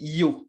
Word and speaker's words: yo: singulier, donc du je, on dit yo. Et c'est ce qu'on va apprendre en espagnol castillan, donc en espagnol d'Espagne. Mais en Argentine, ils prononcent CH, le Y. Donc, ça va dire chaud.